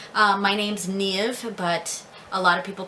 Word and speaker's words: Niamh: So I'm Niamh, and I know that in many parts of Ireland it's pronounced just Niamh. And I do accept that pronunciation. I don't mind when people call me Niamh.